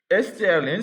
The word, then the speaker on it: strlen: strlen s'écrit strlen, comme ça.